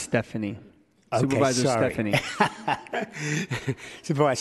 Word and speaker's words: Stefani: It's actually, Henry, it's actually pronounced Stephanie.